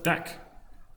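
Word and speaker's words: deque: go collections Tech huh a double-ended Q pronounced deck see python told it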